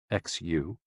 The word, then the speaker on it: xu: The six sounds are xu pronounced like sh with a deep sigh which is associated with the liver.